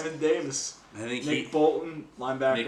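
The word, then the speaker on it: Jamin Davis: I believe they pronounce it Jammin Davis. Jammin Davis.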